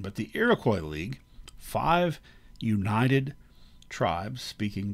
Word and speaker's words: Iroquois: europeans the iroquois league technically uh the french pronunciation would be iroquois um their name for themselves is sony so i go with the americanized pronunciation but the iroquois league five united tribes